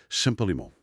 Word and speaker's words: Champalimaud: E já agora, acertar a pronúncia. Champa limonou. Exatamente. Champa limonou. Uma pronúncia de origem francesa que ele fazia questão.